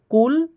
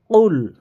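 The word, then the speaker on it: قُلْ: আর যদি বলি যে কুল তাহলে কি খাও। তো দিনে ভাই সকল, এখানে উচ্চারণটা আপনাকে শুদ্ধ করতে হবে। তো এখানে কিভাবে উচ্চারণটা করবেন? কুল, কুল, কফ লাম পেশ, কুল হু ওয়াল্লাহু।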